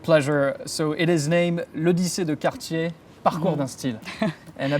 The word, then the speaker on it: L'Odyssée de Cartier: It is by Cartier, and the collection name I might need your help with pronouncing. Of course, with pleasure. So it is named L'Odyssée de Cartier, Parcours d'un style.